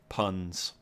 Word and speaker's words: PUAT: Puns. I have been told under no uncertain condition to call it puns.